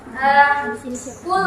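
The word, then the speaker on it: قُلْ: baca surat An-Nas itu Qul a'udzu birabbin nas, qul, tapi dibacanya kayak pakai kaf kan? Sebenarnya itu kan artinya katakanlah. Kalau kalian menyebutkannya dengan qul dan huruf kaf, itu artinya makanlah.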